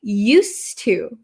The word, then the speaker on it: used to: a little bit okay used to used to so this D kind of disappears because it's followed by a t used to and